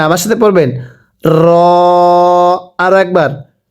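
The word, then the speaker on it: ر: এরপরে র, আমার সাথে পড়বেন র। অনেকেই রকে রা পড়ি, রকে রা পড়লে পড়া শুদ্ধ হবে না, আমার সাথে পড়বেন র।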